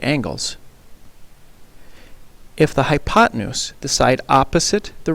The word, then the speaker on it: hypotenuse: the hypotenuse is spelled hypo tan use and pronounced hypotenuse the other two sides of the right triangle